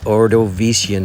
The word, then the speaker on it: Ordovician: with the ordovician period because to me ordovician has five syllables and the ordovician period